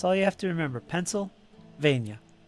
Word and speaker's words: Pennsylvania: In Pennsylvania. When I say it sounds like Pennsylvania, how do you say it? Huh? Pennsylvania? Pennsylvania. Pennsylvania. Just say Penn State. Penn State there. There it goes. It's like pencil.